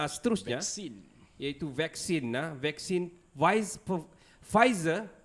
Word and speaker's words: Pfizer: Vaksin Pfizer, it's a silent P kan? Yes. Pfizer and Moderna.